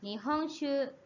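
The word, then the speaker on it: 日本酒: Nah, kanji sake digabung itu bacanya shu. Ya, jadi nihong shu sesuai dengan kanjinya, artinya sake Jepang, ya.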